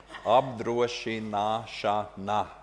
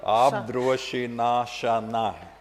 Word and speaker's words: apdrošināšana: Apdrošināšana. I'm sure Sa. Yeah. Apdrošināšana.